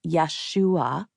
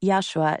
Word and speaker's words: Yeshua: While the pronunciation of his name in Aramaic was Yesua, he expressed that Yeshua is perfectly fine and interchangeable.